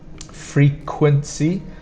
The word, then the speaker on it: frequency: So the problem here will be this Qu sound. You hear a K, a K, and a W again. So KW is, we spell it with a QU, a bit like the word queen. So we have frequency. So for pronunciation, you need to remember to pronounce the stronger sound on the first, angular, and again on the first, frequency.